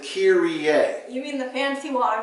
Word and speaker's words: Kyrie: see in worship Kyrie Kyrie sounds close that's more of an NBA player name we actually pronounce it Kier you mean the fancy